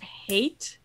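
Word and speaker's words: Haight: So 246 was the Tower of Hate. H-A-I-G-H-T. Is that how you pronounce it?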